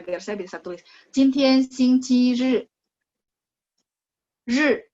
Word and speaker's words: 日: Ri, R-I bacanya ri, nada 4.